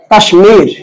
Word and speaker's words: কাশ্মীর: বলবেন যে তৎসম শব্দের বানানের ম ফলার উচ্চারণটা বজায় থাকবে।